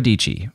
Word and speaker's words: Dietschy: time her name is Sarah dichi rhymes with peachy and she has more